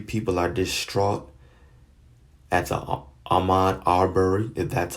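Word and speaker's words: Ahmaud Arbery: lot of you people are distraught that's all Amnon Arbour and that's how you pronounce his name his killing that happened a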